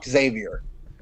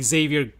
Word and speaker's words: Xavier: read some comics he's xavier they're just xavier you don't pronounce the x you pronounce the x like a z b u says zebra